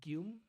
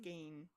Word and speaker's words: Gein: That's involved Ed Gilm. Ed Gein, yes. Ed Gein? Ed Gilm? Gein? Oh, actually, I think it's pronounced Gein.